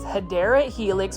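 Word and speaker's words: Hedera helix: and check this out this is a hedra helix or the correct way to say it is hadera Helix which is an English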